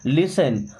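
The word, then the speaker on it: listen: अपने कान खोलो एंड एंड मी्स और लिसन। दोस्तों इस वर्ड में टी साइलेंट है। लिसन नहीं पढ़ना। लिसन क्या पढ़ेंगे? लिसन।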